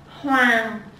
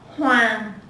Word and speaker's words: Hoàng: Hoàng. Hoàng.